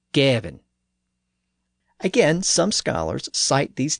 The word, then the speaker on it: Gawain: and that suggests that he pronounced the word preve as prev, and given as Gavin.